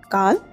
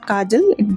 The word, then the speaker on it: Kahl: Next is the horizontal cells of Kahl. It is not Kajal, J is silent there.